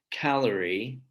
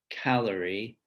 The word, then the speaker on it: calorie: of these words like calorie calorie first syllable stressed but if we turn